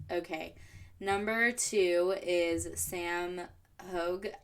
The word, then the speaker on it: Hauge: number two is Sam Hogue I think it's pronounced hug his last name is spelled h-a-u-g-e he does he just